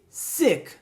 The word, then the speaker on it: sick: E sick, que significa doente.